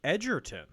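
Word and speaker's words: Egerton: It's pronounced Edertton.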